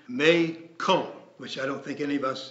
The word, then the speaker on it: McCall: McCall by the way the family name is technically pronounced May Cole which I don't think